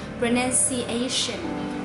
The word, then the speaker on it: pronunciation: will be the strong s so we will say pronunciation pronunciation not a pronunciation or pronunciation okay pronunciation